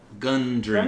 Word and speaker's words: Gundren: that is uh brendrick how do you say that again gun dream engine gun like a gun that you shoot gundam yeah i got